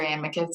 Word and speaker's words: amicus: You can say amicus or amicus, and no one will judge you either way.